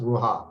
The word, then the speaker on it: ruach: The spelling here is RUACH. Okay, for some reason, but it's pronounced ruha.